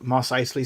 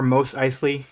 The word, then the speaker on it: Mos Eisley: from a, you know, like Mos Eisley spaceport, or Mos Eisley, as others say, even that spaceport.